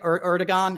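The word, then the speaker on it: Erdoğan: the Turkish president right erdon I always say his name wrong it's not a hard G yeah and uh and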